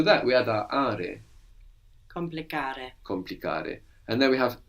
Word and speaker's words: complicare: It's easy to lose the C because it's like part of the next syllable, no?